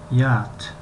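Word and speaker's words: yacht: یات این به زبان به لهجه امریکایی یات می شود، لیکن به لهجه بریتانیایی یات می شود. یات و یات حرف سی و اچ تلفظ کرده نمی شوند یا خوانده نمی شوند.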